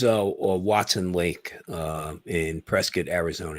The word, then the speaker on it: Prescott: Watson Lake uh in Prescott Arizona you gotta say it right right Prescott Prescott by k-i-t okay okay uh but